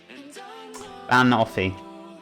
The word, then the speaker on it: banoffee: I want to be banoffee emphasize on the ban banoffee wow I also hear